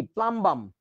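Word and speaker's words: plumbum: হ্যাঁ, তো এসে বলতেছে, দাদা দাদা পুলুম্বুম কি? পুলুম্বুম কি? পুলুম্বুম আবার কি? দেখি প্রশ্ন দেখা তো। পরে দেখি যে প্লাম্বাম লেখা। এইটা পুলুম্বুম কেন বলতেছে? কারণ ইউতে তো আমরা উ উচ্চারণ করি।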